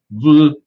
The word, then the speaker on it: Vliet: But today, we've got us it is pronounced according to them, Vliet, V-L-I-E-T.